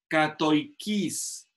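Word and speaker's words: κατοικεῖς: Aquí dice, katoikis, así se pronuncia en griego.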